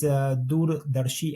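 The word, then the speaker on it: Doordarshi: they can go to our website which is dur Dari advisors I will spell it for the folks because it's a indan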